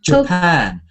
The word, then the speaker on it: Japan: It's like Tokyo. Tokyo and Japan. Japan. Tokyo and Japan. Japan. Yes. Get the ending. So, how do you say this country? Uh, Japan. And Brazil. Brazil. Brazil. Brazil. Brazil. Sometimes it's important to get the stress on the right syllable.